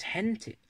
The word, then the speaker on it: gente: words like for example people in Italian is gentie but people in Spanish is Henty la gente when I learned two